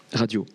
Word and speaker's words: Radiant: D'ailleurs, tu dis Radiant ou Radiante? Radio. Ok, Radio. J'ai tendance à radio. prononcer le T, mais il n'y a aucune obligation.